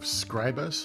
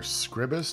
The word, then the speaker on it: Scribus: You have Scribus, or Scribus, depending on how you want to pronounce it, which is your desktop publishing tool.